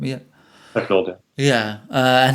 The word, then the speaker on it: Pecknold: and how Robin Pecknold, is that how you pronounce his name? Last name? Yeah. Pecknold, yeah.